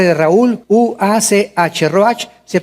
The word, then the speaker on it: ruach: Ruach se pronuncia ruach.